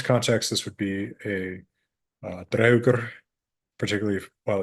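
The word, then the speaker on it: draugr: In Old Norse context, this would be a draugur, particularly while it's in the mound. Now I'm using Old Norse pronunciation.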